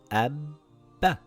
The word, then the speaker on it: أَبَّ: Lets look through some examples, أَبَّThis is the same as this أَبْ بَ The first ba has a sukoon and the second ba has a fatha. It reads Abba Abba.